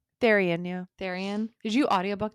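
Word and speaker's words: Tharion: Therion? Therian, yeah.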